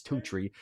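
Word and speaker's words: Toutrix: It's not spelled like that. And yours is t o u t r i x. Totree.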